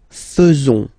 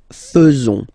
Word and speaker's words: faisons: So it's quite strange because French people tend to pronounce faisons. Okay? So like here, this AE is not pronounced like normally we should pronounce it like E, but then like E. Okay? Nous faisons.